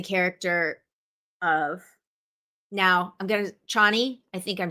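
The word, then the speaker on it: Chani: is in the character of now I'm gonna Chie I think I'm saying that right I there's a astrologer that I follow and her name is spelled the same way but it is spelled is pronounced channy so of course every time they said her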